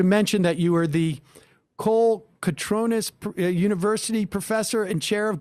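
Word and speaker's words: Kolokotrones: It's a lovely couple who gave the award, and their name is pronounced Colocatronis, like phonetic.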